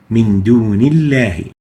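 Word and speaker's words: دُونِ اللَّهِ: Another example, Min dunillahi. Dunillahi. The lam here, the lam of lafz al-jalala, of the word Allah, is following a noon with kasra, so it is attenuated.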